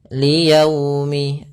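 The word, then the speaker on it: لِيَوْمِ: Dalam pelafalannya harus lembut. Liyaumi, agar menyempurnakan makhraj huruf waw, kita agak monyongkan bibir kita.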